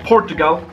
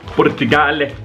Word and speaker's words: Portugal: This is from Joanna from Portugal. Portugale. That's not how you pronounce it.